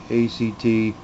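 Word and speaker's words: AT-ACT: I don't care if you pronounce it A-T, A-C-T. I pronounce it Act.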